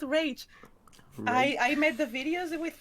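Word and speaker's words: Rache Bartmoss: It's funny because I was used to call him Rashe Bartmoss, and I long ago before I learned that before I heard Mike Pondsmith say his name, that's why I said, he's called Rage.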